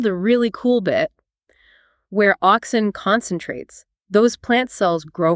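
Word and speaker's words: auxin: Oxin. Okay, that again. Oxin. A U X I N.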